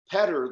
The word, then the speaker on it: Petter: And it was so funny and cool because Petter, the guitar player, they pronounce Peter Petter, I guess, in Norway.